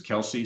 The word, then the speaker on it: KELS: Apparently, her first name is Kelsey, so I assume that's where that comes from. But I also looked it up and it also appears that it's pronounced Kels, like the book of Kels.